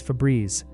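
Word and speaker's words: Febreze: A word pronounced as two syllables with the second syllable rhyming with breeze would typically be spelled with a double vowel or a silent e in the relevant position.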